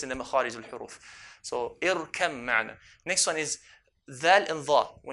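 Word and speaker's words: ارْكَب مَّعَنَا: Irkab ma'na, how do you pronounce? We merge the ba onto the mim. So irkam ma'na. Irkam ma'na. Why?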